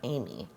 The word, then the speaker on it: Ami: and it might be Ami or Amy. Just considering their last name is Hernandez, I would assume it's Ami, because that's how you would pronounce the A in Spanish.